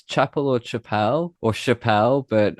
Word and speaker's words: Chappel: And um I pronounce it Chapel. It is Chapel. It's got two P. Um and in LA people go, "Oh, Tim Chappelle." And they go, "No, it's Chapel."